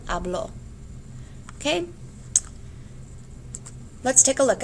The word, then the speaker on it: habló: For present tense, your stress is on the first syllable. You say yo hablo. For the preterite, your stress is on the second syllable. Él habló.